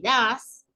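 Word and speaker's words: does: Que son do y das, ¿sí? Do, se escribe D-O, y D-O-E-S, que sería das. Todos dicen do es das.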